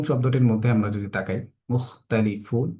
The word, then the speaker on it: مختلفون: মুখতালিফুন শব্দটির মধ্যে আমরা যদি তাকাই, মুখতালিফুন এখানে স্বাভাবিকভাবে পড়লাম, ফুন এসে এখানে এসে তিন পরিমাণ টান হচ্ছে। ইতিপূর্বে যে নিয়মগুলো হয়েছে সেই নিয়মটার আলোকে সেম এখানেও মুখতালিফুন তিন আলিফ টেনে আমরা উচ্চারণ করছি।